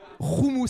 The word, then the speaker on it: houmous: Tu m'as appris tellement de choses, notamment que les blancs ne savaient pas du tout prononcer le mot houmous. Roumous, elle me disait ça se dit roumous, Georges.